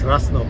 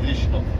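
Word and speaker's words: Râșnov: It says Rasnov, right? Rishnov. Okay. We pronounce it Rishnov.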